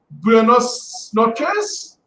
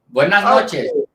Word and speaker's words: buenas noches: Buenos noches? Victor, did I say it right? Buenas noches.